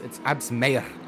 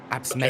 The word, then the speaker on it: Absmeyer: It's Absmeyer. You've got to roll it. Absmeyer. Okay, so there's a mayor. Could have a little roll on the R there.